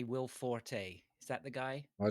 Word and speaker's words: Forte: not Forte. Yeah. I don't Forte, think you'll whatever. find. I think you'll find it's not pronounced Forte. It's Fort.